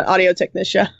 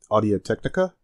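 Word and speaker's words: Audio-Technica: Yeah, this is my microphone, and it's an audio technician. Oh, you mean a Audio Technica? Might have been saying it wrong this whole time.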